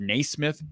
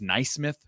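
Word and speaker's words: Naismith: I'm just being honest I heard the word naysmith pronounced n Smith tonight on a on a comment that was made I mean we're talking about basketball you don't know how to pronounce Nay Smith I mean game when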